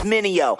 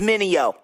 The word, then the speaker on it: Minio: Everybody make mistakes like VJs, tryna say my name, it's Minio. Say it with me, Minio.